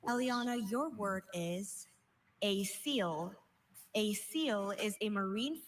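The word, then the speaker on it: acoel: Are there any alternate pronunciations? I have just a seal.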